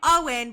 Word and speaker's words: Eoin: I'm saying it's pronounced Owen but spelled Eon which Okay, let me read the review first.